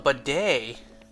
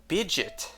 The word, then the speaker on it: bidet: Oh, right, it's called a bidet. What am I talking about? Bidget. Wow, I'm an imbecile. What am I talking about? Bidget. It's bidet. Yeah, that does rhyme with Chevrolet.